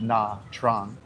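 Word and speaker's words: Nha Trang: We're in Nachang, which I I think in English people pronounce it Na Trang.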